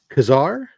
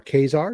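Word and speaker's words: Ka-Zar: great homage we've got Kazar or k are depending on how you want to pronounce it issue one the origin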